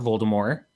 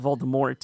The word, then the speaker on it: Voldemort: Even whenever giving interviews, it's not Voldemort, it's Voldemort. The T is silent.